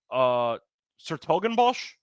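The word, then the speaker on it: 's-Hertogenbosch: Sertogenbosch, I believe that's how it's pronounced.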